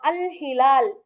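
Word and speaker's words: الهلال: இப்போ நம்ம கத்தார்ல இருக்கும்ல இப்போ அல்ஹிலால் அப்போ நீங்க அல்ல வந்து உச்சரிக்கலாம் அல் ஹிலால் ஏன்னா அந்த ஹ அப்படிங்கிற எழுத்து இந்த 14 லெட்டர்ஸ்ல வரல ஆனா இப்போ அல் பிளஸ்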